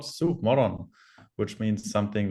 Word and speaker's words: sovmorgon: I mean, I also have to say I'm not native Swedish, obviously, but it's sovmorgon, which means sova means sleep, and morgon means morning.